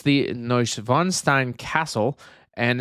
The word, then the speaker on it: Neuschwanstein: It is a beautiful depiction of the Neuschwanstein Castle.